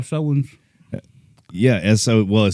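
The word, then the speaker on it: Samhain: Oh yeah, it's pronounced Sowens.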